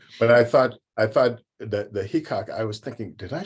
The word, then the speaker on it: Heacock: But I thought that the Heacock, I was thinking, did I say that right? Because I thought I had is right. Okay, good. Rhymes with peacock.